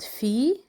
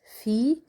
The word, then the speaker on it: Phi: Next letter is called Phi, and it's for the letter F.